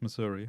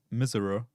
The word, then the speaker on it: Missouri: yep shows up different the most mispronounced thing in Missouri is Missouri yes it's not Miser yeah you have people